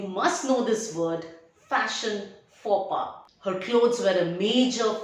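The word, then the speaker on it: faux pas: this and how is it pronounced it is pronounced as fopa foba is an embarrassing act remark or mistake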